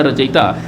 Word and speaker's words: रचयिता: रूप में आप इसे याद रखिए, रचयिता, लेकिन उच्चारण इसका होगा रचयिता, लेकिन आप इसे इन दो शब्दों में तोड़कर याद कर सकते हैं, रच और इता।